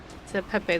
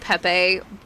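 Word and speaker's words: Pépé: Well, technically, okay, so we've always said Pepe just because that's how everyone pronounces it, but technically it's pep. It's French for grandfather. It's the French word for it.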